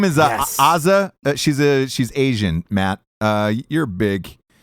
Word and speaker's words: Asa: I believe yeah it's I believe she pronounces it Asia does she good for